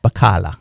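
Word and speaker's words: baccalà: H I'm not sure b a cc a l a yeah that would be pronounced bakala bakala okay yes so I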